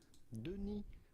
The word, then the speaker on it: Denis: We are looking at how to pronounce with the typical French-Canadian or French pronunciation, Denis Villeneuve. Do not pronounce the S to Denis, it is silent.